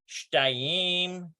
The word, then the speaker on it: shtayim: Note the changes of pronunciation of the following numbers when they are linked with esrei. Okay, so we did this here, shtayim. Looks like, yeah, shtayim, and looks like, it still looks like shtaim.